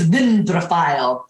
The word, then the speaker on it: dendrophile: And I'll say it like this, dendrophile, because dendro is a word that I learned in Greek, and it means tree. Tree, dendro. And dendrophile is, that last portion is like Philly, like Philadelphia.